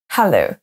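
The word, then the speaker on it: hello: fait pas en français hallo hallo il faut qu'il y ait de l'air qui sorte de votre bouche on a également in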